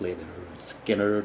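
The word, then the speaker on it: Lynyrd Skynyrd: Cooper, Billion Dollar Babies, Leonard Skinner, pronounced Leonard Skinner, Mike Oldfield, Tubular Bells, Ringo Starr, Ringo, just to name a few.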